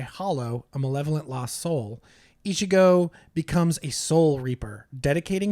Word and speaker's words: Ichigo: I do not know how to pronounce this name. Ichigo.